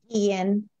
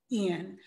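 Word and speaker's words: Guillén: How do you pronounce her last name? I always get it. Guillen. Guillen.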